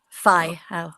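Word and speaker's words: whai ao: A I O So W H you pronounce like F Yeah, there's no there's no F in the Maori language.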